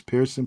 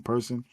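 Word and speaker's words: Persoon: Bomer yeah versus delen I believe he pronounced her last name person is p e r s o o n I believe it is Pearson person um who her last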